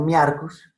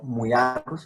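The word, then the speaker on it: Myiarchus: Lo correcto es pronunciar UI. Por ejemplo, muyarcus. No miarcus, sino muyarcus, en este caso, cefalotes. Muyarcus. ¿Por qué muyarcus? Porque procede de la voz griega muya, que es mosca.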